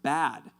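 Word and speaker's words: בַּד: And so that word alone, ironically, the Hebrew word for that, the pronunciation of the Hebrew word for alone is pronounced bad, and it's spelled B-A-D.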